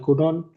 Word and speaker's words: couldn't: কুড you right কুড you right English তুমি কি English লিখতে পারতে, নো আই কুডন্ট right English আমি ইংলিশ লিখতে পারতাম না। কুডেন্ট এটা উচ্চারণটা কুড ইউ কুডেন্ট।